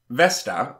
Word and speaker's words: Vesta: Now's a good time to move on to Vesta, who was basically the opposite of Venus. Vesta, or as the Latins pronounced her name, Vesta, analogous to the Greek Hestia, was a goddess of sacred space.